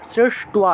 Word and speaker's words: সৃষ্ট্বা: তারপরে সহ যজ্ঞ, জ আছে উচ্চারণ হবে য়, সহ যজ্ঞ প্রজা সৃষ্টা, প্রজা সৃষ্টা, শ্রেষ্ঠ সৃষ্ট্বা, টয়ের নিচে বফলা, তাহলে টুয়া উচ্চারণ হবে সৃষ্ট্বা, পুরুবাচ প্রজাপতি, বিসর্গ থাকায় হ উচ্চারণ প্রজাপতি।